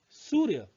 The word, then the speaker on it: सूर्य: उच्चारण करने के लिए यह याद रखें कि जिस वर्ण के ऊपर यह मात्रा लगी हो उस वर्ण से पहले रो का उच्चारण होता है। जैसे सूर्य, देखिए यो के ऊपर